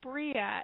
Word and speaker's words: Bria: very well and says that um Dan's friend Bria is asking this that the uh yeah you